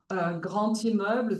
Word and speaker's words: grand immeuble: pronounced like a V, grand immeuble, the D is pronounced like a T, and many others.